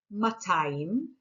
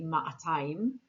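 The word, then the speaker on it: מאתיים: We have me'a, matayim. Jerusalemites actually pronounce the aleph and they say ma'atayim. Both are correct, but most modern Hebrew speakers say matayim. The aleph is written but not pronounced.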